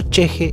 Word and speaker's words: ch'ixi: Y por si lo buscan por ahí, se escribe Chixi, CH'IXI, Chixi. Pero entiendo que se pronuncia cheje de haber escuchado algunas entrevistas y haber visto a la propia autora hablar de este concepto